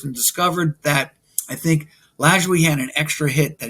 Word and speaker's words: Lajoie: Nap Lajoie. Now, I'm very proud. I can actually pronounce that.